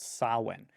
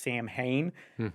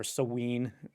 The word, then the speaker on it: Samhain: ancient celtic festival called sawin and it's not spelled the way it sounds it looks like it should be pronounced samhain but it's really stalwan or seween depending on your preference